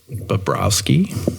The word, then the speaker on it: Bobrowski: And so next here, this is Krys Bobrowski. You perform. I always wondered this. Do you pronounce the W as a W sound or as a V sound? W. W sound.